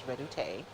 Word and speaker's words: Redoute: That's what Dorothy's husband, who's French, says that's how you pronounce it, is Redoute, to transfer.